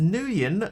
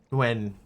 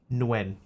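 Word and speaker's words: Nguyen: Is it It's like no, right? When? It's not just when is is it just when or do you do you not pronounce the the N at all? It's like nuen I remember playing a game when I was a kid and they pronounced it new and I was like that didn't feel right.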